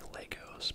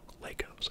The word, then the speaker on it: Lego: Legos, I know it's Lego, Lego is the plural, but Legos are very expensive.